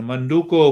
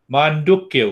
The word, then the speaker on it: Mandukya: The Manduko Upanishad, Mandukya Upanishad, not Manduko.